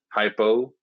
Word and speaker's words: hypo: Hypo rhymes with low, so an easy way to remember that.